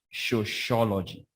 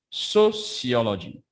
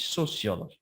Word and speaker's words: sociology: it you murder that concept many of you pronounce it as show shology sociology let me see if i can write